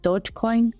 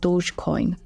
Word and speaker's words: Dogecoin: this is good old Dodge Coin so fun fact I seem to been pronouncing this wrong for the last four years I've always called it Dodge Coin and I believe it's actually called Dogecoin so we're just going